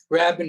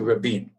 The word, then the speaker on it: Rabin: Rabin is how they pronounce the name here, as opposed to Rabin.